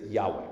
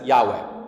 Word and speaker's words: Yahweh: R D in caps that's in Hebrew that's Yahweh so um it's more it's because they don't have vowels so it's yah is kind of How It's pronounced but um but it's essentially Yahweh that's that's what it is um and anyone